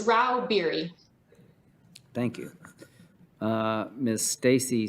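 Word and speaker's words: Rauh-Bieri: yes chairman i'm here how do you say your name ma'am it's rao beary thank you uh miss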